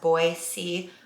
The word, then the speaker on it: Boise: we are now in Boise Idaho and it's pronounced Boise with a soft s not with a z sound never knew that growing